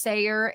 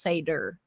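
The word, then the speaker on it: seiðr: can and like Norwegian Norwegian and stuff it is pronounced Sayer but in English it's pronounced pronounced seder um so the way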